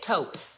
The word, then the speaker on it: taupe: It's like taupe taupe. You say it taupe.